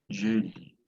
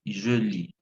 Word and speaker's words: je lis: Je lis. Oui, ça c'est bien parce qu'on on ne prononce pas la lettre S, on dit je lis, pas je lis.